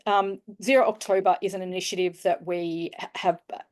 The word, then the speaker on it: ZerOctober: you see it written we sort of struggled how we'd pronounce it was it zero zober zero we just landed on zero October so pretend there's another o in there um but this is